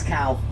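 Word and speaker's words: kao: something even crazier cool the Hawaii word for goat is cow it's not spelled c it's spelled k but whatever whatever still funny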